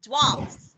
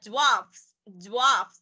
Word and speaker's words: dwarfs: Thì cô đọc là dwarfs. Có nghe cô đọc là giờ chứ không? Dwarfs mà đọc nó dính vào mấy đứa. Dwarfs, nhớ nha, từ này đọc khó nha.